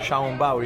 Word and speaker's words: 小笼包: I didn't say it right, Xiaolong Bao, yeah?